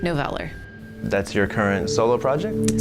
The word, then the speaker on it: Noveller: When you kind of use a word that it could be a real word, but it's not really a real word in the English language, you can't really expect people to know how to pronounce it. But that's how I pronounce it, Noveller.